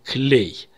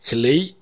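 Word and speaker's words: כְּלֵי: есть меняется у нас окончание им на Эй и мы слышим клей Например я хочу сказать Музыкальные инструменты это будет клей Негина обратим внимание что музыкальный инструмент кли нагина и музыкальные инструменты клей гина произносятся по-разному но пишутся одинаково то есть по контексту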